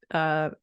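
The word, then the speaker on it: Brigid: Bride, that's how you pronounce it, bride, which is spelled Bridget.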